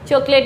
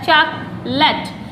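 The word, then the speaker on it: chocolate: बोलते हैं, चॉकलेट, चॉकलेट, चॉकलेट नहीं होता इसका सही प्रोनाउंस, इसका सही प्रोनाउंसिएशन होता है चॉकलेट, ए गायब हो जाता है इसमें से, चॉकलेट।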